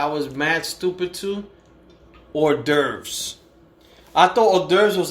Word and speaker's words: hors d'oeuvres: And then even to spell it, I used to call it devours. Every time I used to see it, what's devours? What's this on the menu? You mean hors d'oeuvres?